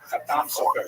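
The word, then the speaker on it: Chatam Sofer: Khatam Sofer, Sephardi pronunciation. Obviously, some of the consonants are slightly different, and the emphasis tends to be on the last syllable.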